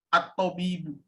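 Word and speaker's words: الطبيب: Ini maksudnya dibaca syamsiah, Ustaz. Mazalat at-tabibu. Maksudnya dibacanya as-syamsiah, Ustaz. At-tabibu. Mazalat tabibu. Bukan mazalat dalam bentuk muannasnya, Ustaz. Mazalat tabibu yajlisu fil majlis.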